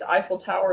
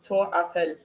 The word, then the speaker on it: Tour Eiffel: Another one is Eiffel Tower is not how they say it. It's Tour Eiffel.